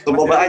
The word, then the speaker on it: Suboba: Ini bacanya Suboba ID atau Suboba ID sih? Itu dulu deh. Suboba aja sih sebenarnya.